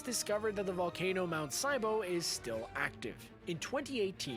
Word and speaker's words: Sibo: It's discovered that the volcano Mount Sibo is still active. In 2018, he pronounced it right.